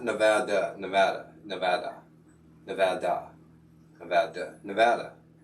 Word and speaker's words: Nevada: Apparently, the only acceptable pronunciation of the state is Nevada, not Nevada.